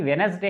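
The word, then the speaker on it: Wednesday: करेंगे समझ में आएगा यह वेडनेसडे है यानी की वेडनेसडे हैं तो इसमें दी नहीं पढ़ा गया है यहां पर देखिए दी साइलेंट है उसके बाद यहां पर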